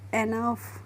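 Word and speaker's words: enough: next है friends हमारा ई एन ओ यू जी एस तो इसको हम पढ़ेंगे एनफ क्या पढ़ेंगे एनफ पढ़ेंगे और एनफ मींस होता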